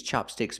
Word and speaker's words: chopstick: Chapstick used a short ah sound like black cat, chapstick. And chopstick, use the short ah like hot and stop. Chopstick.